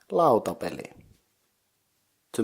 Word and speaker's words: lautapelit: So a board game is lautapeli. To make it plural, you add T to the end, so it's lautapelit.